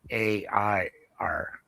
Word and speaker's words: Ayr: First of all, air is AYR, not AIR.